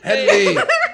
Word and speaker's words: Hedley: Hedley.